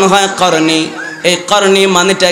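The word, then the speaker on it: قرني: নবী বলেছেন বললেন কফ র নুন ইয়া যেটার উচ্চারণ হয় করনি এই করনি মানেটা কি এই করনির মানেটা হলো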